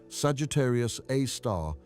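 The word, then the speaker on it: Sagittarius A*: They named it Sagittarius A star pronounced Sagittarius A star after the constellation where it resides.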